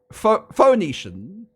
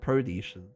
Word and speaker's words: Phoenician: Phoenician. Phoenician. Not Pronetian.